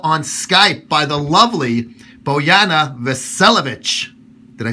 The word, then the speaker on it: Bojana Vasiljevic: joined right now on Skype by the lovely boana velovic did I say it right yes okay all